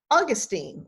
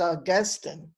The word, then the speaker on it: Augustine: all called philistines and i may say augustine like the grass but the man's name was augustine and i will definitely